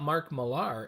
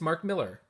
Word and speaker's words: Millar: also know that mark it's not Mark Millar it's Mark Miller even with the are there that I know for sure because I saw my interview say everyone pronounces it wrong beautiful Phil no dough cover